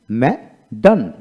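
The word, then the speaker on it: madden: তারপর আসেন ম্যা ডন, ম্যা ডন, এম A double D ই এন, ম্যাডন, এম এ ডি ই এন, ম্যাডন উচ্চারণ হবে।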